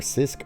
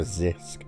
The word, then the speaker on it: Zisk: how you say it it's either cisk or zisk I think it's zisk h rebooked the allegations